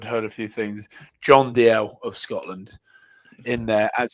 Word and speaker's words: Dalziel: There's a place in Glasgow called Dalziel, and I thought it was called that. It's called DL.